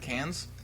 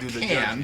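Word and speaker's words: Cannes: across the pond uh can is that other place across the pond that's in France so right right you can't pronounce the S otherwise it sounds funny cans yeah can's Film Festival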